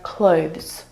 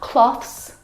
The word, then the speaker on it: clothes: The difficult thing about the pronunciation of this word is the two consonant sounds, v and z together. Both of those sounds are voiced consonant sounds.